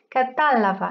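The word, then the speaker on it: κατάλαβα: Alors, une des particularités de l'aoriste, c'est que les verbes à l'aoriste, donc au passé composé, au passé simple en grec, sont accentués sur l'avant, avant-dernière syllabe. Donc par exemple, catalaveno, comprendre, je comprends, c'est devenu catalava. Et là, vous voyez, l'accent a changé de place.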